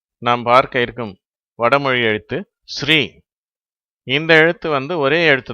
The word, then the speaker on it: ஸ்ரீ: அதெல்லாம் நம்ம பார்த்தோம் ஆனால் இந்த ஸ்ரீ என்ற எழுத்து ஒரே ஒரு எழுத்துதான் இது ஆங்கிலத்தில் எஸ் ஆர் ஐ என்ற எழுத்துக்களால் குறிப்பிடப்படுகிறது அப்போது ஸ்ரீ என்று உச்சரிக்கப்படுகிறது இதற்கு என்ன அர்த்தம்னா மதிப்பு மிகுந்த என்று அர்த்தம் சில சந்தர்ப்பங்கள்ல இதே எழுத்தை ஆங்கிலத்தில் எஸ் ஹெச் ஆர் இன் என்று குறிப்பிடுகிறார்கள் உச்சரிப்பும் ஸ்ரீ அப்படின்னு அதை உச்சரிக்கிறாங்க ரெண்டுத்துக்கும் என்ன வித்தியாசம் ஏற்கனவே